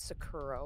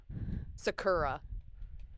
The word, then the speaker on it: Sakura: I think I pronounced it Sakuro when I was younger. And that's Sakuro. Sakura.